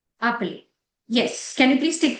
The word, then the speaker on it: appeler: जो ईआर की प्रोनाउंसिएशन आती है वो ए जाती है.